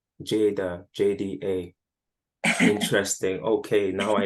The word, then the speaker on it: Jada: because my name is Jada oh okay that's my first name and if you it's spelled j-a-d-a but if you just spell jda it still says Jada so that was my